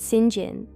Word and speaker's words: St. John: Rivers, and their brother St. John, pronounced Singin, Rivers, a clergyman.